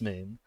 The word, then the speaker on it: Mun: Many fans, as it turns out, began calling the body the moon, pronounced the same as moon, believing the original spelling to be a mistake. The spelling in-game is the mun.